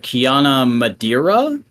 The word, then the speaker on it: Kiana Madeira: the way is uh Kiana Madeira is how I think you would pronounce that um yeah never heard